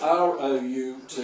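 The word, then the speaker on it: route: root in every city that's r o u t e what the Americans pronounce as rout Bruce had innocently asked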